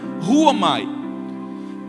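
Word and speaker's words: ῥύομαι: O termo tirou, a palavra usada que Paulo usa ali para escrever essa carta, é o ruomai, é uma palavra grega que se pronuncia ruomai.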